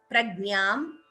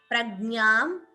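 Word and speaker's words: प्रज्ञाम्: again bha is mahaprana prajnam please note the pronunciation of this letter it is gnya like you have in jnanam that gnya so please do not say gna that is different that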